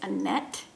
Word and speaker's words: Annette: Anyways, her Ravelry name is Annettle, and her name is Annette, which rhymes with Lynette, because my middle name's Lynette, and I don't know where I'm going with that.